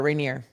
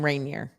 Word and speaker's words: Rainier: rainier yeah that's better rainier are you in rainier yes that's the right way to say it i was saying rainier yeah i was adding it i was adding a syllable rainier sorry i know